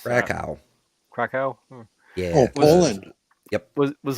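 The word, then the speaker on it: Kraków: Krakakow. I have no idea how to pronounce that. Krakow.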